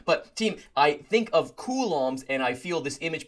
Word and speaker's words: Coulomb: This looks like a llom if I just remove that second syllable. So I look at this picture and think, "Oh man, that is a hip looking llama." Or that is a cool. But that's how you pronounce this word.